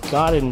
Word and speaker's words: Gaudin: and uh garden porsche is spelled g-a-u-d-i-n but pronounced god in fortune like g-o-i-d-i-n and porsche actually should be